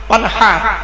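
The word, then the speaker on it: وانحر: ফাসাল্লি লিরাব্বিকা ওয়ানহার, এর মানে হচ্ছে নবী তুমি তোমার রবের জন্য নামাজ পড়ো। ওয়ানহার, ওয়ানহার, এই গলার ভেতর থেকে হাইটা উচ্চারণ হবে, হাই ওটি, হাই হাওয়াজ নয়।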